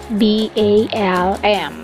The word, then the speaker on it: balm: B-A-L-M. Pero silent L, kaya lip balm.